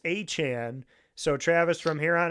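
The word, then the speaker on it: Etienne: So, I thought it was ETN.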